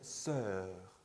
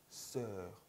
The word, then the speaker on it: sœur: 그 다음에 sœur, sœur, 으 발음이에요.